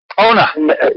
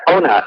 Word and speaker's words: O'na: And it's pronounced Ona. Yeah, Ona.